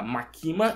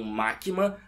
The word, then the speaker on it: Makima: com as minhas Fontes a pronúncia correta era maquima e não maquma mas a culpa não